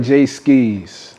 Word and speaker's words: Jae Skeese: Like, how you pronounce it? Jae Skeese or Jae Skeese? You put that little skis on it. Yeah, it's like Jae Skeese.